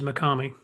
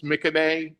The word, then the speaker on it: Mikame: Always mispronounce that as Mikami. Yeah, and I was told it's Mikame, but I could have been lied to.